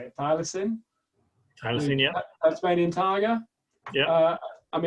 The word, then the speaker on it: thylacine: obviously are oh, how do you say it, thylacine?